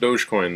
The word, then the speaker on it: Dogecoin: Dogecoin, which uses the doggy, and it is pronounced Dogecoin though.